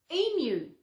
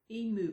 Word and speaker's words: emu: noticed on something um how what were they pronouncing um emu they call it emu was it emu i think it was watching something goldie horn she was pronouncing it emu it's not emu e move it's e mu mu it's like in like